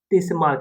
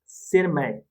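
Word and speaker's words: Tschermak: Eric von टीशमार्क, देखो टीशमार्क लेकिन यहाँ पर साइलेंट है, दैट इज शेरमार्क, शेरमैक, लेकिन आपको याद करना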